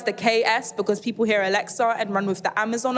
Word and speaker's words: Aleksa: I emphasize the KS because people hear Alexa and run with the Amazon Alexa. As much as the pronunciation is the same, the spelling isn't.